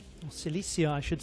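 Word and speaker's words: Cilicia: It was at one point part of the Roman settlement of Sicilia or Celissia I should say. I should say that because it's the correct pronunciation.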